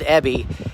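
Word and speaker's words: Abey: an agent uh his his name is spelled a b e y but it's pronounced ebby and um he just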